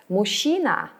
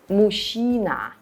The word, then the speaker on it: мужчина: For instance, папа, дедушка, дядя, мужчина. By the way, the word мужчина, a man, often gets confused with the word машина, a car. Мужчина, a man, is masculine.